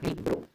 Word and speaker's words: libro: Tenemos otro ejemplo, libro. ¿En qué sílaba recae la mayor fuerza de voz? En la primera, libro.